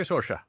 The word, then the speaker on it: Saoirse: Thank you, Saoirse. Thank you. Perfect pronunciation, by the way.